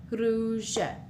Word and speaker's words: rouge: Here we have U makes the sound oo. So with the R in front, it's r, ru, rouge.